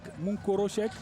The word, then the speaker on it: Monkorochek: Monkorochek. Voilà, c'est la bonne prononciation.